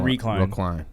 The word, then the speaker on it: recline: He went recline. Recline. Oh, it should be like one word. The accent. Recline. The emphasis is on the second on the second syllable.